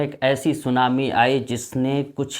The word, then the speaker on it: tsunami: सुनामी को English में हम लोग TSUNAMI, जिसमें टी साइलेंट रहता है, टी को नहीं बोला जाता है।